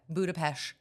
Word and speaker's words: Budapest: because I went to Budapest for work have never been everybody decided come back saying budapes because that's how you say it apparently but I kind of